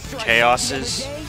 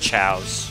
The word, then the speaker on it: Chao: when with the Chows, I thought they were, it was pronounced Chaoses, because Chow and Chaos kind of spelt the same way. But nope, they're pronounced Chows.